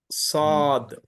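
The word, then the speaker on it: صاد: Seen, sheen, sod. I open like this. Sod. Okay. Sod is a, when you open the mouth vertical, the automatically the sound comes, the heavy sound comes, heavy pronunciation.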